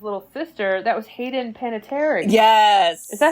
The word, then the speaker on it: Panettiere: And then did you know that Dot, who was basically the princess's little sister, that was Hayden Panettiere?